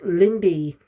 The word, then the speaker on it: Lindy: Lindy, I think her name was, yeah. But the problem is they don't pronounce the L. So because it keeps sounding like Mindy. And it's Lindy.